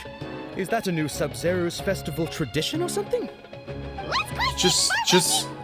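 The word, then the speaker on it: Sabzeruz: zeros sub sub i i don't know why the a sounds like a u but sub zeros if you just look at it like that is from the z to the other z zeros that that makes sense seb sub zeros i'm sorry i'm just i'm just noticing right now the pronunciation of the a is actually a u what she didn't realize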